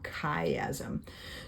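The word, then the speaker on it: chiasm: how to spell it it's c h i as M kaym so there's the two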